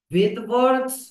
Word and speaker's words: Svedberg: এস, S means SVEDBERG, Vedberg's coefficient, ভেদভার্স coefficient. S, এসটা এখানে silent থাকে, ভেদবার্গের নামে এসটা সাইলেন্ট থাকে, কিন্তু ইউনিটটা হচ্ছে এস।